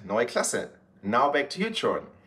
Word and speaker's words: Neue Klasse: here this is why we're here the BMW NOA classa X there you can see how it's spelled right there and yes that's how it's